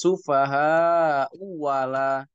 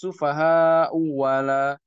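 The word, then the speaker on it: السُّفَهَاءُ أَلَا: Cara membacanya ya dia diibdal wawan diibdalkan dengan huruf wau. Jadi bacanya amanas sufahau wala amanas sufahau wala ini perlu perhatian yang khusus.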